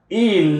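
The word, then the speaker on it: ils: Il, the S is silent. It's pronounced the same way as il here.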